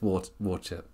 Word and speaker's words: Worcester: How did you say it as Worcester? Because it's Worcester over here.